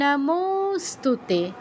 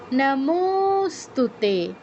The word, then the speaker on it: নমস্তুতে: নমস্তুতে নমস্তুতে এরকম তে দীর্ঘ হবে।